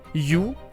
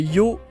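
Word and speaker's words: 曜: non non parce que le haut quand c'est dans ce caractère là est en réalité un allongement du son d'avant c'est à dire que à la même manière que il fallait prononcer le oh le H dans honoca et pas juste se prononcer o et ben de cette manière là il faut pas prononcer you mais Yoho c'est à dire deux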